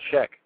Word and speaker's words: Scheck: Yeah, Scheck.